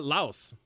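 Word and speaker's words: Laos: it's French influen so the S is silent uh they use the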